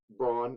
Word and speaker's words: Braun: I'm not going to say like throw him in for 28 minutes a game, but um, Christian Braun, I refuse to pronounce it Brown.